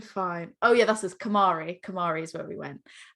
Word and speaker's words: Kamari: And we were like, it's not called calamari. And the guy was like, no. First you go to Kamari, then you have calamari. And he was like, what, did I not say it right? And we were like, you literally said calamari.